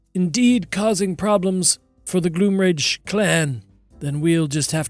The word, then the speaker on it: Gloomrage: And she goes, it's not even pronounced Gloomrage. Historically, It isn't? no, it's Gloomrage.